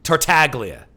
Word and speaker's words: Tartaglia: Tartaglia or Tartaglia? How do you pronounce? Yeah, the first one. Tartaglia.